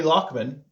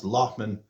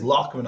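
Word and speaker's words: Loughman: So Jeremy Lochman, who a lot of people outside of Ireland seems to pronounce Lachman uh on their pundit videos, but it is Lochman I believe like a lock like a lake.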